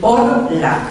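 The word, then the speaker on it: Horla: El Orlá, se escribe así con H, el Orlá. Es una homofonía entre dos palabras francesas que quiere decir hors, fuera, y la, allí, Orlá.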